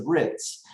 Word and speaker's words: RITMS: The M is silent there, it's the RITS.